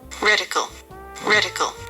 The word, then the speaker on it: reticle: Are we gonna settle this rectical thing quickly? I've got a video here. I may have been saying it wrong all these times. Reticle.